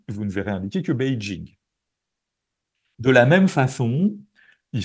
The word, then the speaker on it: Beijing: du monde sachant que Beijing est quelque part plus près des de la prononciation chinoise en tout cas de la prononciation pékinoise officielle parce que la Chine c'est un très très grand pays donc il y a aussi des dialectes des différences de prononciation et cetera mais c'est comme ça qu'on s'est rapproché du son chinois et si vous allez